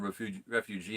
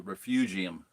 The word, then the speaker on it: refugium: being a refugium and it's not called Refuge Refugee and it's a refugium Look up the word